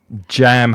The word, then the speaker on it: jam: Be careful of the difference between jam and ham with pronunciation. That's often confused by Spanish speakers. So jam has that strong j sound at the beginning.